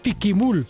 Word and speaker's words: Ticimul: de nuestra ciudad Blanca tisul se escribe con c aunque los pobladores mayas lo pronuncian como tiquimul o sea con k es una población de